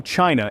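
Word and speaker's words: Qin: The name China is derived from the Chin, pronounced Chin dynasty.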